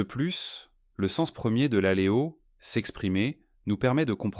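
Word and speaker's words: λαλέω: Pour un homme, n'importe quel homme de cette administration, n'importe quel homme, pour prononcer le mot grec « prononcer ». Est-ce ce terme magnifique, l'aléo ? L-A-L-E-O, l'aléo.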